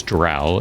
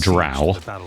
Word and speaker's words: drow: is a dark elf ranger otherwise known as drow and yes it is correctly pronounced drow because r.a salvatore himself i've heard it come